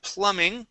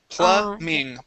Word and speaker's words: plumbing: okay let's go to Plumbing okay in this word the B is silent the word is pluming plumbing pluming plumbing okay